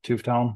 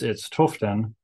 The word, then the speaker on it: Tufteln: For the longest time, I just called it Tufteln because that's easy, and when you say it, people hear it and can say it back. So it is German, and I don't speak German. And I can't even remember how I came across the word, but it's Tufteln, I think is maybe the best way to pronounce it.